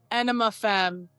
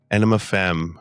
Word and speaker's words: Aenima Femme: Britney is the lead singer of how do you pronounce it? Ana enema fem enema fem which is uh a tool cover band based right here in Viva Las Vegas.